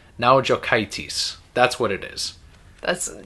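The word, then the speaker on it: Naujokaitis: week let's see if they know how to pronounce it n a u j o k AI t i s now jitis that's what it is that's now jates so this follows the the story of the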